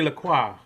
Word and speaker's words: LaCroix: a little swig of how do you say this thing lacroix lacroix we say lacroix here maybe that's enough one